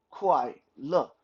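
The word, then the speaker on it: 快乐: make that our sound quite look quite k-w-a-i and then look l-e look uh again it's not lee but look think of it as a given a french pronunciation means birthday the time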